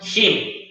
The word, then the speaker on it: him: Nuevamente, cambio la H por la J y la pronuncio him.